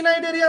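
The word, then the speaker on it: Cnidaria: আছে Porifera next আছে নাইডেরিয়া নাইডেরিয়া সি two silent ঠিক আছে সি নাইডেরিয়া না হয় নাইডেরিয়া নেক্সট আছে টিনোফোরা টিনোফোরা টু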